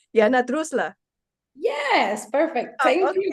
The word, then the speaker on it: Droessler: Jana, correct me if I say your last name wrong. Jana Droessler.